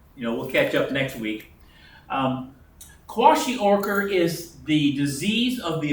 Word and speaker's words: kwashiorkor: What is, I'll spell it Kwash, Kalkwashior? How do you say that? Oh, kwashiorkor.